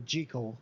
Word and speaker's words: Jekyll: Hyde I think that the author said that it was pronounced G Cole so I've always pronounced it G Co okay cool so